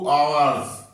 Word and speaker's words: hours: Object a book, for 2 hours, फॉर 2 hours। आवर्स as silent रहेगा, ठीक है।